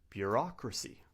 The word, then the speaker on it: bureaucracy: The stress is on the second syllable.